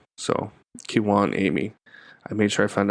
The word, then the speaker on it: Kijuan Amey: So, I got an email um from Kiwan Amy is his name, but it's spelled K I J U A N A M E Y. So, Kiwan Amy.